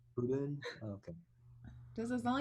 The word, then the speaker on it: Pureun: I got it's pronounced kind of like Pureun, but like you roll the R a little more. Pureun?